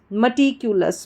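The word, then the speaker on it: meticulous: म टी क्यू और last में अस जो है ओ यू एस लिखा है उसको अस पढ़ेंगे ना तो एल के साथ जुड़ जाएगा तो लस बन जाएगा तो ये क्या बन जाएगी पूरी हमारी स्पेलिंग एम ई म टी आई टी सी यू क्यू एल ओ यू एस लस मिक्युलस मटिक्युलस मटिक्युलस का हिंदी अर्थ होता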